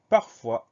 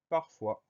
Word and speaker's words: parfois: Première syllabe par, P-A-R, deuxième syllabe fois, F-O-I-S. Donc la seule difficulté, c'est ce S muet à la fin du mot. Le son OA s'écrit OI comme d'habitude. Donc on pense à mettre ce S à la fin de parfois.